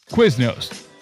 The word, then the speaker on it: Quiznos: Like how you pronounce the word quiz and then nose. There's never no one's ever said ooh pop quiz. Quiznos.